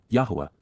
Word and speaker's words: Yahweh: This is the reason that Yahweh never once asks us to pray, but constantly encourages us to listen. Yahweh, Yahwa, the proper pronunciation of Yahwh, God's personal and proper